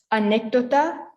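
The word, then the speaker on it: anécdota: slanted above a letter so the accents mean that you have to place emphasis on the letter that has the accent so over here we have anecdota so it's an i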